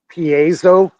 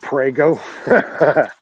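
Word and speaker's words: piezo: transducer yeah barium TI pronounce it Paso some people call it prgo oh I care about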